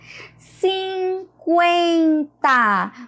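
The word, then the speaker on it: cinquenta: 50. Vocês conseguem notar que eu escuto, que eu pronuncio o som do U?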